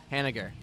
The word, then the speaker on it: Hennigar: Hennigar.